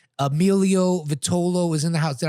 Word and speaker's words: Vitolo: All right, Emilio Vitolo is in the house. Did I pronounce that correctly? Yes. Yes. Vitolo, yes.